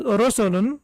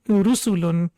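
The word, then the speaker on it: رُسُلٌ: It shouldn't be pronounced as rosulun because it's ru sound, so it's basically dhamma, so it will be rusulun. Then we have the second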